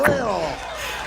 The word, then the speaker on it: Lil: L-I-L. Lil. I love I it. said, how do you pronounce that? They say Lil.